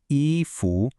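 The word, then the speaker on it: 衣: And the last piece of our core vocabulary puzzle is eu pronounced eu.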